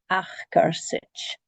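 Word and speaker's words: acarsaid: And the D at the end of Achgersich is the J sound because it's got the I before it.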